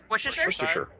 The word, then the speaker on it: Worcestershire: Do I need Does, do I need to now send you a bottle of Worcestershire sauce then?